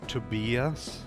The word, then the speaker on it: Tobias: He wanted his name to be pronounced to beas.